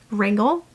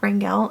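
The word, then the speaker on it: Wrangell: Um so, making these videos about the different cruise ports, I've learned so much about Wrangle. It's pronounced wrangle, not wrangel.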